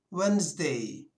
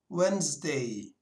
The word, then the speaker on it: Wednesday: Tuesday geçiyoruz Çarşamba gününe Çarşamba gününde D harfini okumadan söylüyoruz wednesday wednesday Perşembe günü salı gününe